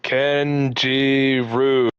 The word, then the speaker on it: Kinjiro: Kinjiro, pronounced Kenjiru, is Japanese for forbidden or secret.